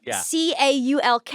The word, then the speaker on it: caulk: you bring that up when you caul something c a u l k you hear the L yes caulk no Co but you don't caul